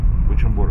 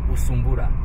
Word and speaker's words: Bujumbura: Bujumbura. But when the Germans and the Belgian came. So they couldn't pronounce correctly Bujumbura. So they were pronouncing Usumbura.